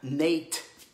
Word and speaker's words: Nat: Pas Nat, Nate. Pas pareil, ça s'écrit pareil, mais c'est pas pareil.